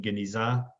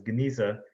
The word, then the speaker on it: Geniza: And so that gives us this word in Hebrew pronunciation, Geniza, anglicized as Geniza.